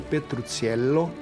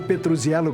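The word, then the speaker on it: Petruziello: O meu nome é Petruzielo, né, pronunciado em italiano ou Petruzielo, como dizem os brasileiros.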